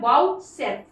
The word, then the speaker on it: vouchsafe: फिर उसके बाद हो जाती है वाउचसेफ, वाउचसेफ, इसका प्रोनाउंसिएशन होता है वाउचसेफ, VOUCHSAFE, वाउचसेफ मतलब जिम्मेदारी लेना।